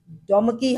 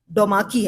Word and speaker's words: ڈوماکی: ڈومکی ہم تو اس کو پڑھتے تھے، مجھے معلوم ہوا کہ اس کا تلفظ ڈوماکی ہے.